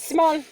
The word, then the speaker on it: smol: Yeah, but you just spell it. S-M-O-L. We are Smol. Yes. Small.